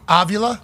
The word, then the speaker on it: Avila: Robbie Avila? Avila, yep. Is that the best that anybody's pronounced it? I've heard a lot worse, yes. I've only heard of Via. I've only heard of Via too, so it's good to but know. It's Avila, yeah.